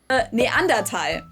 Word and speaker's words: Neanderthal: Neanderthal. Tal meaning valley. Today the word is spelled T-A-L, but back in the day it was spelled T-H-A-L in German, but the H is silent either way.